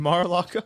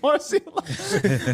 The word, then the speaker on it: Mar-a-Lago: You mean Mar-a-Lago? What did I say? Marcialago.